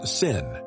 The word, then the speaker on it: Samhain: The night of the festival called Samhain, pronounced Sin.